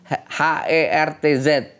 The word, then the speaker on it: Hertz: How to pronounce H-E-R-T-Z.